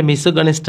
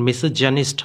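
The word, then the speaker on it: misogynist: ইজ মেসোগানিস্ট এটি কিন্তু অনেকে বলে থাকে আসলে মেসোনিস্ট আসলে এটা উচ্চারণ না এখানে মেসোজেনিস্ট হবে জের উচ্চারণটা মেসোজেনিস্ট নারী বিদ্বেষী যাকে বলা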